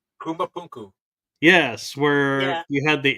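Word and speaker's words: Puma Punku: Rarely quote this show, but there is one spot they go to a lot that always amazes me, and I believe it's pronounced Pumapunku.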